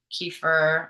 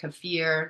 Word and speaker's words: kefir: to be sauerkraut yogurt kefir or cfir depending on how you like to pronounce it and different types of